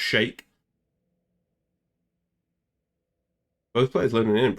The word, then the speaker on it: Sheik: I always say Sheik. I think that's because I'm English, but I think it's actually supposed to be pronounced Shake.